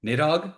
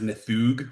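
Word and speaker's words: Níðhöggr: It is Nidog. It's actually pronounced Nthug, which drives me nuts.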